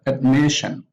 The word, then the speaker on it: admission: called the penultimate syllable we have admission admission it's really from the admit and the stress is on admission on the second syllable from the admission division division submission submission